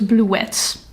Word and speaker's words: Bluets: And I ended up being so surprised and so enamored by Bluets by Maggie Nelson. Oh, I actually think you're supposed to pronounce it wrong. So it's Bluets. Bluets by Maggie Nelson.